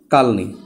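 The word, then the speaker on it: কালনী: Equal to কালনি। অর্থাৎ Surma plus Kushiyara এখানে মিলিত হয়েছে সুরমা এবং কুশিয়ারা এবং তাদের স্রোতের নাম হল কালনি। আসলে উচ্চারণটা হবে কালোনি।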